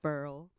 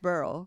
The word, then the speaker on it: Beryl: name is that but I've heard it pronounced burl sounds like chemical or like a gem right the couple was